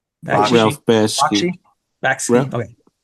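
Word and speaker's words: Bakshi: And then then it was Ralph Baxis. Is that how you say his name? Ralph Baski.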